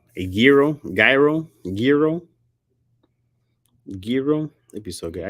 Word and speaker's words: gyro: You don't pronounce gyro. Oh, like that. Gyro. Gotcha. So what's the G there for?